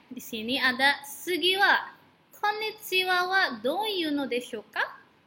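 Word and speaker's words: こんにちは: dan kondisi laut Hai meskipun menggunakan kata H tapi tetap dibacanya Konnichiwa hai oke kata Konnichiwa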